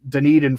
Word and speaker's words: Dunedin: hitter friendly ballpark they're uh they're parked in dunedin florida i finally pronounced it right yeah and then i i